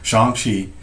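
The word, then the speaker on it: Shang-Chi: appearances they don't say theatrical okay yeah but shang chi shanxi good point john you're right i did see the movie they they he said it right shanxi did those those actors those contracts were signed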